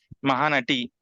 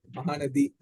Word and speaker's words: Mahanati: Mahanati, T, like T, right? T, Okay. Ta, So that is correct only. Okay. Fine. Telugu. Yeah, Mahanati. Okay, And because you in Tamil, pronounce it the Mahanadi. Mahanadi. Actually, we were pronouncing wrong. Actually, it is Mahanati.